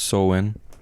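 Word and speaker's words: Samhain: day is here Halloween and spelled Sam hay pronounced soen yeah sin sin or something um but the day is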